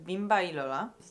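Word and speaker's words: Bimba y Lola: który pojawił się na moim celowniku to sklep bimba i Lola ja muszę sprawdzić jak się wymawia to markę okej bimba i Lola bimba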